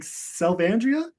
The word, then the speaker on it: Selvandria: So I realized, like you asked earlier, like Selvandria, not how I originally pronounced it. That is me. I made a decision later to start pronouncing it in the way that it seemed most people were naturally going to, and now I like it.